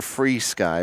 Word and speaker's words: FrSky: said it right but I technically we're free sky but free Sky yeah it's actually the name